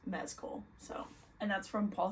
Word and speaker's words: Mescal: which I just learned his last name is pronounced mesco so and that's from Paul himself so don't